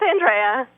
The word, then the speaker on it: Andrea: No, it's Andrea. That's the That's the Italian pronunciation.